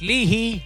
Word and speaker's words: Leahy: James Lynn, Matt Leahy, pronounced Leahy, I got it right, Not Applicable, Matt Hoskins, Bouncy B.